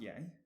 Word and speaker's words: yay: And I said that I, like the first person singular, is yay, which we can now work out why it's yay. Hang on, I might skip something. Okay, it's pronounced yay.